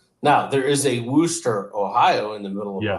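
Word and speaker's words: Worcester: would imagine it starts with a h woster woster it's just like andester sh sauce wor but it's pronounced yeah I know it's spelled like you would say like Worchester it's Worchester but it's called because she's like so I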